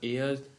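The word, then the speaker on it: heir: No days very few word begin with a silent H, the most common are एयर, honest.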